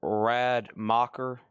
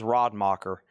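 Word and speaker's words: Rademacher: Okay, let me let me look up Rad Mocker. That is spelled R A D E M A C H E R.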